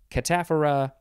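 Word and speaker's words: cataphora: catamaran catamenia catamite catamount catamountain cat and mouse cataphara that's how you say that word catapharesis and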